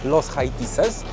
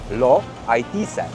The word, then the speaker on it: Los Haitises: Ja powiedziałem, że jest to Park Narodowy Los Haitises, ale prawidłowo po hiszpańsku wymawia się to Lo Haitise.